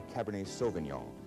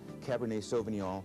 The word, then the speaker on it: Cabernet Sauvignon: Now we have what many consider the best red wine grape in California, the Cabernet Sauvignon. Cabernet Sauvignon, originally from Bordeaux.